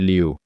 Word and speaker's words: Lieu: Acho que isso aconteceu enquanto estávamos gravando, e sim, acho que se pronuncia Liu, Ted Lieu.